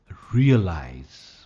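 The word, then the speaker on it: realize: रियलाइज, first part पर stress आएगा, रियलाइज।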